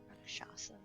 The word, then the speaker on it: Rakshasa: But don't think Dwindle would help, but maybe, you know, this guy, the Rakshasa. Is that how you say it? Sorry. Rakshasa.